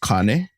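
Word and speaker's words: kāne: so the first one it would actually be pronounced Kane Kane yeah so Kane means male or any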